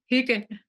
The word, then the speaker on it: hygge: How do you pronounce that word? Hygge, I say hygge, that again.